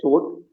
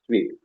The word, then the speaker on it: suite: and she took a suit and then sweet I think the pronunciation is sweet in that suite she